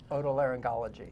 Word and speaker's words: otolaryngology: Otolaryngology. Yeah, see, it is a hard G, Laura.